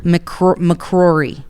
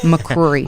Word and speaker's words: McCrory: McCrory. Yeah. McCrory.